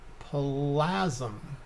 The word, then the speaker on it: Plasm: now have 65 000 plasm plasma hate to say it rhymes with orgasm that's the only way i could remember it right so this screen here